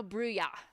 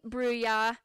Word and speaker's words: Bruya: It's now Bruya, so no S. No S. So we're going Cami Bruya. That is what we will be saying for the rest, at least when we're on. We'll say Cami Bruya. That'll be the pronunciation. We're going to make a note for all of our other commentators. Thank you very much. I feel like I should say it with a French accent.